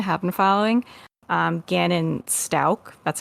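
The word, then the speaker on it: Stauch: remember Stout stouch yeah I'm sure it's Stout I always say stouch in my head when I'm reading it because that's how it's spelled but it's Stout yeah but um if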